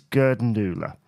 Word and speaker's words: Gerdundula: Paper Plane and Gerdundula, or as I was once told by my dad, he used to pronounce it Gerdundula. I think it has many different pronunciations, but I think the one in which the songwriters use is Gerdundula.